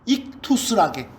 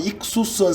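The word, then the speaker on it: ἰχθύς: 그리스어 발음으로는 익투스라게. 익투스에도 좋고, 어떤 사람은 익수스한 사람도 있고 익투스한 사람도 있고, 요즘 그리스 사람들은 익티스도 하고 발음이. 자관 그게 물고기란 뜻이에요.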